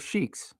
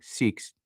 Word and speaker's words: Sikhs: Do Muslims like living with Shiks? Seikhs. I said that wrong. Sikhs.